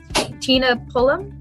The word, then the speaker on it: Tina Pullum: um i'm from authors press i'm here with tina pullum is that how you pronounce it yes okay cool wonderful today we're